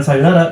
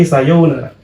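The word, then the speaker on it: さようなら: Sayonara juga agak panjang pengucapannya. Bukan sayonara, tapi sayonara. Ya.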